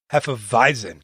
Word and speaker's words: Hefeweizen: It's a Hefeweizen, or if you're from Germany, the way you pronounce it, Hefeweizen.